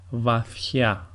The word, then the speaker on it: βαθιά: In the second way, it is as if a small he comes into the pronunciation. So we have, for example, βαθιά, βαθιά, which means deep,